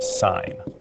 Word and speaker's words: sin: of theta okay so it's s-i-n but it's pronounced sine so it's just an abbreviation and it is accompanied